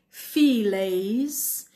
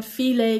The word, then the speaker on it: fillet: پس میگم Can I have the salmon cut into fillets? بعضیا میگن فیله که تلفظ صحیح فرانسوی هست، بعضیا میگن fillet، اونش دیگه مسئله نیست.